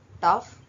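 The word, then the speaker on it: tough: ಆರ್ ಓ ಯು ಜಿಎಚ್ ರಫ್ ಟಿ ಓ ಯುಜಿಎಚ್ ಟಫ್ ಇಎನ್ಓ ಯುಜಿಎಚ್ ಇನಫ್ ಪಿಎಲ್ ಓ ಯುಜಿಎಚ್ ಪ್ಲಫ್ next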